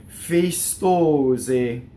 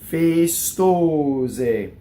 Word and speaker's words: festose: Festose.